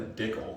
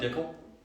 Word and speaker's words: Dickel: Yeah, I was intrigued by the Dickel name first. And we're already started on the wrong track. No. What? Because it rhymes with pickle.